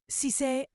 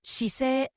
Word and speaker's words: 姿勢: The word we'll be learning in this section is shisei, which you will often hear in settings such as fitness classes, yoga, or discussions about someone's attitude towards work and life. The word sisei, pronounced as shisei, means posture or attitude.